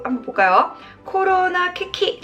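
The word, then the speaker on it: 危機: 코로나 키키. 자, 요것도 정말 여러가지 시험에 정말 자주 나오는 단어입니다. 위기죠. 위기를 뭐라고 읽는다? 짧게 2글자입니다. 키키라고 하시면 돼요. 키키예요.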